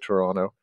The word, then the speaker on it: Toronto: at the city of Toronto uh don't pronounce the T and uh I would